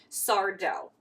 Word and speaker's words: Sardo: Frank's stories and then sardo no Mis Accent on the dough who was in Gary's